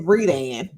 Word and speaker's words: Redan: You didn't even say it right. It's Redan. Oh, okay.